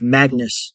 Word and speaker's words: Magnus: native name is so my friend uh his name is malus which is often pronounced Magnus in English or in uh Norwegian but in Danish the G itself so malus yeah and you know